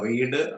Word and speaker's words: read: റീഡിന്റെ പാസ്റ്റിലേക്കും ബി പിയിലേക്കും പോകുമ്പോൾ ഉച്ചാരണം മാറും കേട്ടോ. റീഡ് റെഡ് ഒരേ സ്പെല്ലിംഗ് ആയിരിക്കും, പക്ഷെ റെഡ് എന്ന് ഉച്ചരിക്കണം. Paper is റെഡ് ബൈ.